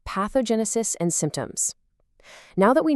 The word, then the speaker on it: pathogenesis: Our fifth word is a fantastic high-level medical term, pathogenesis. Listen closely. Pathogenesis.